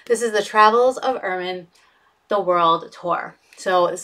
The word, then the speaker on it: Ermine: um it looks several places and it said Furman so like Herman without an age so this is the travels of Airmen the world tour so this is a really